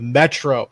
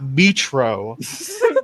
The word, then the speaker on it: metro: So far, I object to JF's pronunciation of metro. It's not metro. Metro.